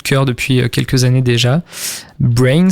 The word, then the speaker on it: BRNS: Brains, ça s'écrit BRNS.